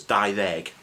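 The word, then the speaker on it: dau ddeg: I didn't say dau-ddeg because when a previous word ends in a vowel, which is a, e, or, e, u, as you can probably see somewhere, the d in deg turns to the.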